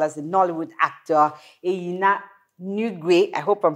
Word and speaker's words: Nwigwe: Junior as well as the Nollywood actor Eyina Nwigwe. I hope I'm pronouncing that name right. Oh my Eyina God. Nwigwe. Nwigwe.